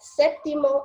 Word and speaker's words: sétimo: there anyway Simo that sétimo and décimo the stress is on the first syllable that's what the accent